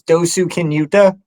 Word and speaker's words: Dosukinuta: uh so it's my name my trail name's dosu kinuta um that's the short version and I got